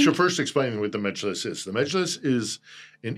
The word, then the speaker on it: Mejlis: Of course, this is also right after or shortly after the referendum that they shut down the Mejlis. Am I pronouncing that correctly? The Mejlis? Mejlis.